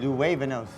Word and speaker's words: Luevanos: Luevanos.